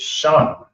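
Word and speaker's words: שן: The tooth is shan. That's connected. So it's pronounced shan. It's a sha and a na connected makes shan.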